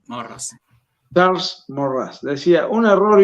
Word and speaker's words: Maurras: Morras, Maurras se escribe, morras.